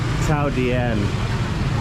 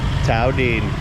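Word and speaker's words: Thảo Điền: You'll hear a lot of foreigners mispronounce this as Thao Dien, but remember, each word in Vietnamese is monosyllabic, meaning one syllable. So it couldn't be Dien, that's two syllables, Dien.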